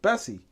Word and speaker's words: Bessie: she acquired her name Bessie was more known as or pronounced as BSE which stands for basic service equipment now if you were to pronounce BSC as a word it would sound like Bessie so there you have